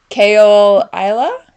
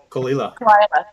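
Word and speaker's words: Caol Ila: to Muse oh God the yeah make me pronounce it that'll be great kale Isla oh kalila sure that it's one of my favorite actually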